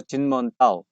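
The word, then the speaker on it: 金門島: 중국 발음으로 진먼다오, 위에는 마추다오, 이렇게 되는데, 이게 중국 대륙 바로 옆에 있는데 타이완 영토입니다.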